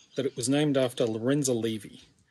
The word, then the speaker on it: Lorenza Levy: first i learned that it was named after lorenza levy not lauren zalavy and the second thing i learned was that it's not pronounced lauren zellerby so i wondered who is this lorenzo levy